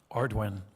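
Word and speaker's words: Ardoin: Secretary Ordon, did I pronounce that properly? Ardwin.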